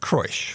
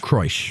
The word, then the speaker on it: Kroesch: and Devil's Den by Eric, how do you pronounce that, Kroesch? Eric Kroesch. Kroesch.